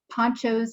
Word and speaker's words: Poncho: Okay, Poncho's hand is up. My name is pronounced Poncho, by the way, Cici.